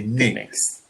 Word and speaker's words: Knicks: so well done um interestingly with the knicks the k is silent so in their name we don't say clicks we just say nix you know the word